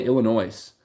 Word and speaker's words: Illinois: between a silent S and like he called Illinois Illinois, which is like, Yeah, and what?